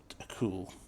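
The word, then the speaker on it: chuul: that this is a cool c-h-u-u-l okay i'm going to tell you that it's a true what c-h-u-u-l everybody had to pronounce it a cool guy well you guys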